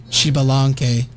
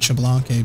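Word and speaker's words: Xbalanque: Chibalanque is how you pronounce his name. I always pronounce it Chablanque, but... It's not a French name. It's Chibalanque. Because it is a not French name.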